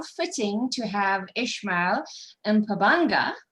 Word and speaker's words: Mpabanga: And how fitting to have Eshmael Mpabanga. I think I pronounced that fairly okay. Yeah, you got it.